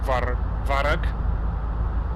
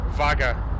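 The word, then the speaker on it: Vágar: the Faroe Islands to Varug. Is it Varug? I said it wrong again, didn't I? Vaga. Vaga.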